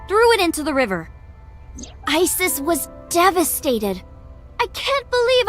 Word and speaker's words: Isis: Horse's mom is named Isis, but in ancient Egyptian, it's pronounced closer to Isa or as h.